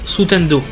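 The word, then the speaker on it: スタンド: celle-ci, car en japonais, l'écriture de stand se prononce sutendo, signifiant littéralement onde spectrale.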